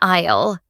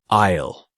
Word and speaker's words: aisle: It's called an aisle. The letter S is silent. Listen. Isisle. Isle.